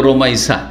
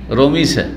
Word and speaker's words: রোমাইসা: কি করে, হ্যাঁ রোকিয়া, ওই রকম রোমাইসাকে রমিসা, তাই না, বিকৃত নাম রোমাইসা, এই নামটি এসছে বিভিন্ন বর্ণনায়।